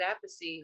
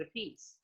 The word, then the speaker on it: Appice: it's because one brother pronounces it Appice and the other one pronounces it Appice.